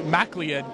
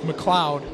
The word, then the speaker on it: McLeod: interesting though is that I actually thought the um 21 car I thought that was actually MacLeod because I've heard uh it pronounced like that before but it's McLeod here we go 11